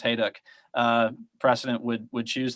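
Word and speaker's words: Hejduk: the uh John Hau by the way it's pronounced hayu uh precedent would would choose the diagonal just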